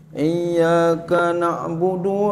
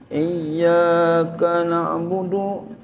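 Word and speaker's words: إِيَّاكَ نَعْبُدُ: Mata hari makanya gitu jadi bacanya i i naudu iaka na'budu wa iyyaka nasta iya iyaka na'budu Wa iyyaka nasta'in iyyaka na'budu iyyaka na'budu wa iyaka nastain ya jadi jangan iyaka nabudu wa iaka Nain iya harus ditasirin Iya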